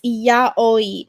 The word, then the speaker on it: yaoi: Um, no, it's yaoi.